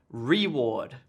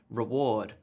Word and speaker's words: reward: correct stress here so here is the incorrect stress like I was saying I was saying reward but in fact the correct stress on the syllable would be reward reward reward this gets stressed and